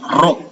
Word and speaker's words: Rho: Ingat ini dibacanya bukan P tapi Rho ya. RHO. Rho.